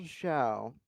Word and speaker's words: Xiao: General Shiao.